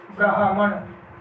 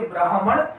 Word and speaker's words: ब्राह्मण: आगे है ब्राह्मण, तो दोस्तों ये अशुद्ध है और इसका शुद्ध रूप हो जाएगा ब्रा, आधा है आएगा ब्राह्मण, ब्राह्मण, ये इसका शुद्ध रूप होगा।